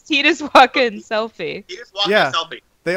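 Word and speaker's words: Selphie: It's spelled S-E-L-P-H-I-E. It's Selfie, but not like Selfie. Like, hey, let's take a selfie. Like, no.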